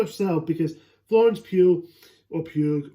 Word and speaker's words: Pugh: concept of the trailer intrigued me, it's Florence Pugh herself, because Florence Pugh, or how you say her name is, Florence Pugh, who I do like.